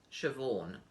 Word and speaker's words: Siobhan: names this one with this weird spelling is pronounced siobhan and that one is neve right strange very